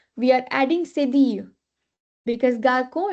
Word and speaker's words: garçon: Now here, how should we pronounce it? Garçon. Garçon, but why? It has O. Now here we have learned that with A, O, U, it will be pronounced as Ka. Why it is so? It has accent.